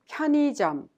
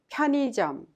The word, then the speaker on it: 편의점: The second syllable is pronounced like e instead of which is a little bit hard to pronounce. So easily pronounce 편의점. Repeat 편의점.